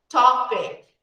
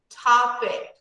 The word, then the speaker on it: topic: We had another example, topic, topic. Topic is a noun, so the stress falls on the first.